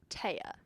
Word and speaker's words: Thea: a concentration in musical theater and I play TAA spelled like Thea T he EA but pronounced TAA